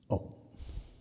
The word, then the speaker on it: Om: And that sound is Om.